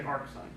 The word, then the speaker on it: arcsine: write it this way I will typically pronounce it this way that is I'm going to say AR sign okay but it just